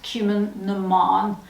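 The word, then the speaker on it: Cumann: see it and it's spelt cumin bon it's pronounced cumin that's just to help you because it's like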